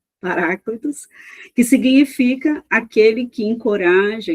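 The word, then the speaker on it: παράκλητος: tradução do grego Paracletos, eu vou pronunciar assim, tá, irmãos? Paráclitos, que significa aquele que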